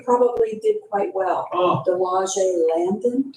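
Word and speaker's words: De Lage Landen: Oh, Delage Landon? Delage Landa. Okay. I'm pronouncing it correctly.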